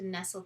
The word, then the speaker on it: nestle: night we like to nestle together in the bed i'll see yeah yeah uh n-e-s-t-l-e not unlike the drink the nestle but just a different pronunciation and from before we